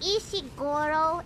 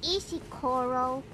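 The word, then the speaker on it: 石ころ: I made a mistake it's not isy Goro it's isy Coral it's isy Coral I've made a mistake we made a typo I thought you pronouncing it weird no I'm just bad because is coral is apparently rolling of something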